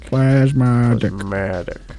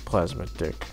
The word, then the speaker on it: Plasmatic: am plasmatic yeah plasmatic plasmatic because a lot of people apparently are confusing how you say it and it's plaid yes definitely plasmatic not plasma dick I mean why would